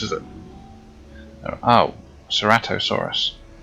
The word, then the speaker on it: Ceratosaurus: A Ceratosaurus, is it? Oh, Ceratosaurus.